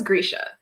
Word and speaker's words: Grisha: So I looked up a video of Lee Bardugo, and she says Grisha.